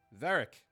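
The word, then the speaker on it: Virek: Veric. Veric's here. It's Veric. Veric. Sorry. Sorry. Normally the way I would spell it, but sure.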